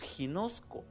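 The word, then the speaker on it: γινώσκω: Y esta palabra, que aquí se tradujo conocer o conozcas, es una palabra griega que se escribe o se dice más o menos ginosco.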